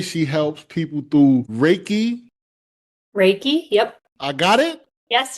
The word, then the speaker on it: Reiki: Reiki, yep. I got it? Yes, you did. Okay, it's going good. She helps people through Reiki, somatic healing, pure bioenergy, breathwork, sound healing, and end of life care.